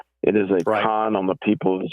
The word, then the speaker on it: CON: certificate of need and the first three letters of those three words for your listeners is pronounced Khan it is a con on the people of